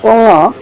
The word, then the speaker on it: ঙ: এটা হবে উঙ, উম বললে হবে না, এটা হবে উঙ।